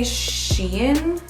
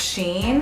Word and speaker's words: Shein: I used to say Shein, but my sister said it was Sheen.